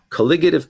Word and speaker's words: colligative: about something called colligative properties that's how you pronounce that word colligative properties and these are relevant to us most